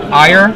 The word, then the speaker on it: Eier: got your name wrong is it higher yeah one of the few people who gets it right that's awesome gladding you're